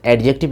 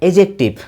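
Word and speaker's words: adjective: ये कभी नहीं होता है दोस्त, एडजेक्टिव नहीं होता है, एजेक्टिव.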